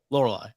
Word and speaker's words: Laurila: Laurila.